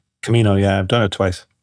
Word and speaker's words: Camino: You you you you've um uh done the the I can't remember how to pronounce. Is it the Camino? Camino.